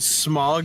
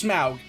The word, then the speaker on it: Smaug: No, that's Smaug. No, I know, but they're probably spelled the same. They're not. It's Smaug is S-M-A-U-G.